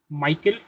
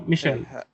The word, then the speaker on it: Michelle: Um Michael I I hope I'm pronouncing it correctly. Oh Michelle Michelle.